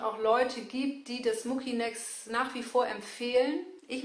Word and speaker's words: Mucinex: Diese Mucinex gibt es und ich glaube, die heißt auch richtig ausgesprochen Mucinex, aber ich habe es mir angewöhnt und es ist mir jetzt zu anstrengend, das zu ändern. Also ich sage Mucinex.